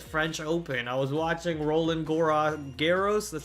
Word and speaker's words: Roland Garros: I was watching Roland Garros, that's how you say it, Roland Garros, French Open.